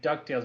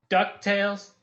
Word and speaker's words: DuckTales: We don't say DuckTales, we go DuckTales.